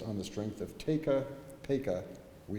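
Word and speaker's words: Paca: The other big question is, why do you pronounce his name Peka? Everybody in Baltimore says Pekka. There's Pekka Street. Well, we in Annapolis say Peka, not Pekka, based on the strength of a rhyme that appears in the Harmony Club records.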